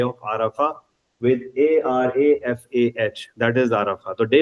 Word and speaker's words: Arafah: तो वो गोल ते को वो they used to pronounce it there. Anyway, that is day of Arafah और यौमुल अरफा, ARAFAH है.